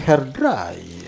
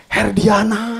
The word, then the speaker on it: Herdiana: Mang Yanto kan tulisannya Hair Dryer. Ya. Yang bener bacanya. Herdiana.